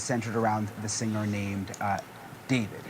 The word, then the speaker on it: D4vd: around the singer named David. It's pronounced David, but it's spelled with a 4.